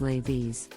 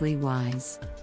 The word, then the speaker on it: Levi's: 5 perfume Levi's is an American denim brand that is often mispronounced as ladies the correct pronunciation is Lee wise the brand is known